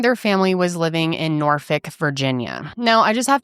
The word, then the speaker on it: Norfolk: There are people who say Norfolk, or some people say Norfolk, which that's how I, immediately wanted to say it just by how it's spelled. But I think for the most part, most of the coverage that I've seen, people are saying Norfolk. So I'm going to go with Norfolk, and I'm sorry if